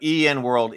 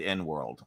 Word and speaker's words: EN World: But EN World is pronounced, okay, so I think I'd said N World.